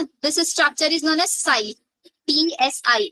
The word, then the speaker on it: psi: Structure is known as साई, PSI। अब आप बोलोगे मैम इसको तो पिसाई बोलना चाहिए, क्यों बोला? टी साइलेंट रहेगा इसका, ठीक है। पिसाई मत बोलना, साई बोलना, साई, we call it साई, ठीक है।